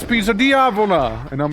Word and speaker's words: Diavola: Another one I liked was Diavola. So it's like called Pizza Diavola, but I remember I used to like mispronounce it. And I called it Pizza Diabola. And my dad just looks at me like, this pizza has nothing to do with the devil. This is not Pizza Diabola, it's Pizza Diavola.